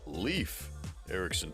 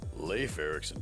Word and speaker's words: Leif Erikson: And for clarification, locally it is pronounced Leaf Ericson Park as opposed to Leif Ericson Park for some odd reason.